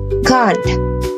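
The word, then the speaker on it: gang: And then, in the standard pronunciation, we call this word go. But in Scottish pronunciation, we call this word gone.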